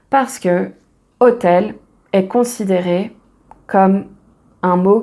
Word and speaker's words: hôtel: Ici, on va utiliser un d' parce que "hôtel" est considéré comme un mot qui commence par une voyelle puisqu'on ne prononce pas le H.